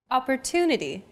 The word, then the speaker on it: opportunity: Opportunity. The stressed syllable to in opportunity is deemed more important, so it's pronounced longer than all other syllables.